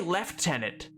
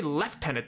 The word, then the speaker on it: lieutenant: British do something weird the British say left tenant they they they they don't change the spelling they say left tenant though I don't know